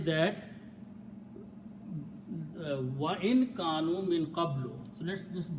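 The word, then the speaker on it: كانوا: Kanu means, and we write an alif which don't pronounce with a little circle.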